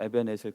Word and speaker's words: 에벤에셀: 이렇게 꼬불꼬불한 글씨가 있는데요 그 발음은 위에 한글로 에벤에셀 그대로이기 때문에 겁먹으실 필요 없습니다 한 가지 주의하실 것은